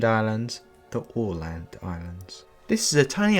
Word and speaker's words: Åland: So first of all, it's pronounced Åland Islands, not Åland Islands, the Åland Islands.